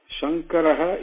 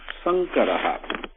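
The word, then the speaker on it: शङ्करः: Shankaraha is different from Sankaraha. Okay? Sankara means trouble, fight, battle. Okay? whereas Shankaraha means doer of good deeds, doer of auspiciousness. So be careful how you pronounce it.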